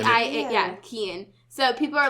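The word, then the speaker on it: Cian: that reminds me of name his name is Ken he's Irish but it's spelled c i a n c i a yeah Ken so people are like s or like they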